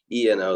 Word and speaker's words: ENO: ENO, though, is how you say the brand, and they're made as like lightweight backpacking hammocks.